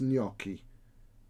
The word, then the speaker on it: gnocchi: the right can you it's not gnocchi it's gnocchi there's no you don't pronounce the g at all it's gnocchi somebody in the village